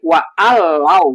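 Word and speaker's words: وَأَلَّوْ: Cuman nunnya dihilangkan itu untuk memudahkan pengucapan ya. Itu dengan menghapus nun, jadi itu cukup menjadi alif saja karena ditasjidkan gitu ya. Sehingga bunyinya menjadi wa allau gitu ya.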